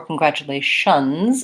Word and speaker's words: congratulations: congratulations and this tu an American English actually sounds more like sound so it's gonna look like cun grat chu it's just like the word Chu Lai shun congratulation or congratulations if it's plural then